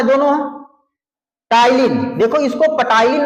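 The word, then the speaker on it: ptyalin: यहां पे ध्यान दीजिएगा ये टाइलिन नाम है क्या नाम है इसका टाइन प साइलेंट है बेटा प को नहीं पढ़ना है आपको टाइलिन और डायस्टेस ये दो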